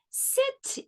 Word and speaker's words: city: coin one cent now C before I also thinks it's a letter s it's pretending and it makes the S sound why wants to have a turn too it wants to pretend that it's a long e e let's go back and try to read this word I'll help you sit e sit e City e City draw a line